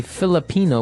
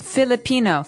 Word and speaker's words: Filipino: So the Philippines is actually spelled P HI like Philippines, right? Um, but if somebody is from the Philippines, we say Filipino with an F. All right. Filipino.